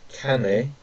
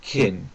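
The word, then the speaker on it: 金: Then we've got this one, which means metal, gold, or money, which is pronounced kane or kin, okay, or kane, which means money, and then we got kin, which is gold, and then we have Friday, which is kin yobi.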